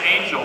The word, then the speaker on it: Angell: W I always was an American so I guess it's pronounce Angel but I think until